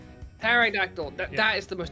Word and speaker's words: pterodactyl: Pterodactyl. The P is silent. Pterodactyl.